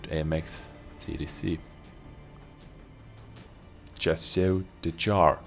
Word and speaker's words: Char: CDC just show the Char I believe this is how you pronounce that just your dis jar without s in the end yeah if you can